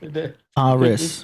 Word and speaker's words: Icaris: Pronounced Ike. ICK-A-RIS. They mixed it at the church? ICK-A-RIS. Hey, they kept 100 real. That's crazy. DJ Icaris.